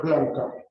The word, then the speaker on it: Blanchard: Escribe Blanchard, se pronuncia Blanca.